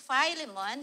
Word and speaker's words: Philemon: But this is not the Philimon this is uh filemon in the Canadian uh pronunciation. It's Philemon.